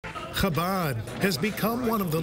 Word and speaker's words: Chabad: Chabad has become one of the largest Jewish organizations in the world. How do you say it? Chabad, not Chabab.